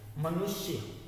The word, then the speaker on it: मनुष्य: जैसे अब मनुष्य का है, मनुष्य, श पे कम जोर है, हम लोग देते हैं, उसका उच्चारण ज़्यादा लंबा नहीं खींचते हैं।